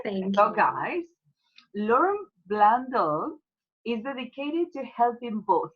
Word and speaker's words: Blundell: And today I have Lauren Bando again. Please correct me if your last name I pronounced correctly. Blundell.